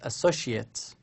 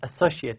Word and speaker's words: associate: the same word, but another meaning is associate. Okay, it's associate, not associate. Associate here can be used as a noun, but don't think of it as a noun here.